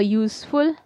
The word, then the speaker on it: useful: Now, some more examples are a useful animal, a used car. Again, we are using U, Y-O-O.